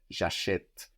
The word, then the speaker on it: j'achète: So that E that can be totally disappeared in acheter now becomes clear and pronounced. And it has a written accent on it. J'achète.